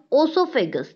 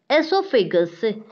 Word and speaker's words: esophagus: of the mouth a student this esophagus don't pronounce also figures the correct pronunciation is esophagus stomach smaller style largest design rectum and ns